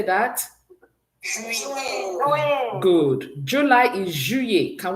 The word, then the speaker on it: juin: June is juin. Can we say that? Juin.